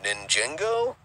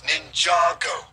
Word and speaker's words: Ninjago: is the life ninjago oh i mean ninjaengo and eagle uh it's ninjago it's really not that hard to pronounce fine geez whatever you